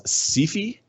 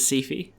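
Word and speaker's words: Syfy: Although part of it is they branded themselves Sephi. Yeah. Like literally they call themselves Sephi, which I think is the dumbest thing they've done. They they pronounce it as Sephi.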